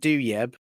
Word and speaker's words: Douieb: I pronounce it Douieb.